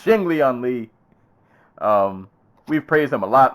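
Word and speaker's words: Li Jingliang: Lee Lee Ji Young Jing Jack said it wrong he's Ching Lian Li we've praised him a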